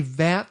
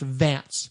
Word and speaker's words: Vanth: back in 94 that it was supposed to be pronounced Vance, which is a very sci-fi guy name.